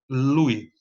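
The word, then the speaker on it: Luys: Se escreve núcleo subtalâmico de Lewis, L-U-Y-S, não é? Mas se fala núcleo subtalâmico de Lewy, tá?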